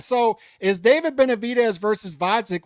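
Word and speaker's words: Gvozdyk: So is David Benavidez versus Vodzik with a silent G pay-per-view worthy, or is it not pay-per-view worthy?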